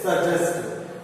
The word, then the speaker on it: suggest: Suggest. GG makes ja sound. Okay? Suggest is the different odd sound.